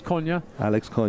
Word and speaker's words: Cunha: I have to apologise to the Cunha family. I've been calling Alex by the wrong surname. So Alex Cunha is the proper pronunciation.